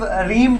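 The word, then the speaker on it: realm: हुआ है अक ब्रस रीम ट्रस्ट य मम इसलिए पढ़ जाता है कि एल साइलेंट है अकर ब्रस रीम टस्ट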